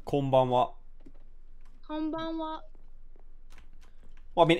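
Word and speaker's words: こんばんは: Yeah, Is it pronounced konbanwa? Yeah, it's konbanwa.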